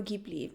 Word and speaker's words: Ghibli: want to mention Studio Gibli. And by the way, I'm pronouncing it um in a very Finnish way. So I'm saying G sound as we say G. So G like you would say Gabriel.